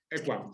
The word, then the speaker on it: Equam: Quería preguntarte, porque en vuestra web, en la web de Equam, vosotros lo pronunciáis Equam, ¿verdad? Equam, sí.